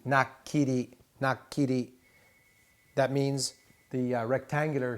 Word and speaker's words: nakiri: Nakiri, nakiri, nakiri.